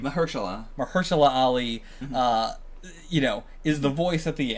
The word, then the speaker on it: Mahershala Ali: Mahershala Ali, is the voice at the end.